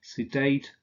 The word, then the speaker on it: sedate: The adjectives innate, sedate, ornate are stressed on the final syllable.